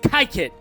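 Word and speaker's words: Kykuit: So that is where the Rockefeller family estate, the Kaikut, I think it's Kaikut or Kaiket estate is. So yeah, it's definitely pronounced Kaiket.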